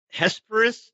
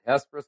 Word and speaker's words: Hesperus: It's Hesperus. Is that how you say it? Yep, you nailed it. Hesperus, Colorado.